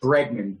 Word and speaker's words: Bregman: The book is called Humankind, someone asked, and it's Bregman, Bregman, Humankind, just like it's spelled.